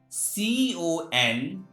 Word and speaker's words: condemn: It's why N is silent. Next example, CONDEMN.